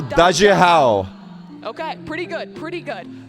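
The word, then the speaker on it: 大家好: It's ni hao, daja hao. And I know my Ni hao, pronunciation isn't great, but daja first, hao.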